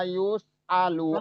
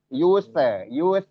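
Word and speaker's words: يُسْأَلُ: Dan ingat wala yus. Yus juga rawan tawalud ya. Ingat lagi. Jangan sampai tawalud. Jangan sampai memantul lagi ya. Yuse, dibacanya wala yuse alu. Nah, itu nggak boleh.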